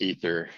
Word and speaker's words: Aether: your name right I I actually go by Aether but it's technically pronounced ether well we're gonna go by Aether because that's what you're